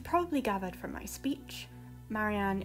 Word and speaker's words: Marianne: As you probably gathered from my speech, Marianne is pronounced Marianne, with emphasis on the Ma and An components. Preferably the R's are meant to be rolled, but since I genuinely struggle with rolling my R's, it is not a